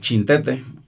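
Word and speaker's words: Xintete: Bueno, el punto de inicio es una comunidad muy pequeña, se llama El Chintete, se escribe con X, el Chintete, pertenece al municipio de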